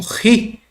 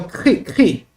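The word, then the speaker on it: χῖ: Uns pronunciam como RI, mas é o CRI.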